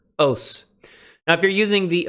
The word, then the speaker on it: ὡς: you drown translate this host I think because in raspbian you definitely pronounce the rough breather as an H but in my pronunciation it's silent oh s--- okay what